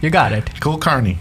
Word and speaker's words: Kulkarni: Kulkarni. That's correct. You got it. Kulkarni. Kulkarni. It's the way you pronounce it is you say cool, car, and knee.